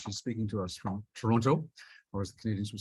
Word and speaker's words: Toronto: so i'm in toronto it's actually toronto is how you say it um and i want